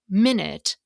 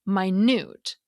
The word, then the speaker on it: minute: Therefore, in English, the meaning of words can change depending on which syllable we stress. For example, compare the word minute with minute.